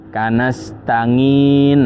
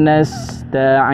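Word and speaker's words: نستعين: Jangan juga kemudian diganti nga ya. Kalau di Jawa ini sering terjadi ya. Kanastangin. Nah, ini juga salah ya. Karena nga itu bukan pengucapan huruf ain yang benar.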